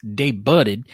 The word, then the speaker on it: debuted: Expos decision in Louisville it's pronounced day budded and it's Louisville question number eight Thomas